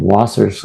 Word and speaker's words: Waser: up you could put my last name waser that's how it's pronounced and put uh nyt